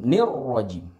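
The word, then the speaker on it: الرَّجِيم: ada disitu ya suku nirojim jangan seperti itu ya membacanya karena kalau seperti itu secara tidak langsung kita menambahkan huruf ya setelah nunggu ya dan di sini kita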